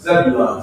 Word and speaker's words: Zebulon: And that's how you pronounce it. Zebulon, Zebulon.